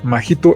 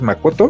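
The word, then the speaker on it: Makoto: una de las dos o sea majito es muy raro que que lo pronuncien de esa forma la pronunciación es macoto y luego masato eh Pero por qué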